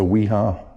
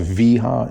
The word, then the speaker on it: Wiha: In case you guys are wondering about the screwdriver, it's a Wiha. Actually, I guess it's pronounced Wiha. It's German. It's speedy.